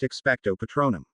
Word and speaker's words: Expecto Patronum: The spell, which when performed correctly will conjure a Patronus, is pronounced Expecto Patronum.